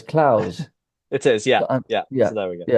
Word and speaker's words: Clowes: Laird Clowes. So LAIRD. Of course. Dash Clowes, CLO. I always try to think what the consonant is before the end, and there isn't one, so it's Clowes.